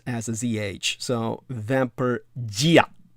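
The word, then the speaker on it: vampirdžija: as a z-h so vamper gia the jays are always pronounced like y's in the slavic language it asked vampire hatches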